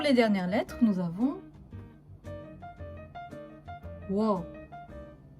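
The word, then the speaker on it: ㅝ: Pour les dernières lettres, nous avons Wo. Wo qui est OU plus O.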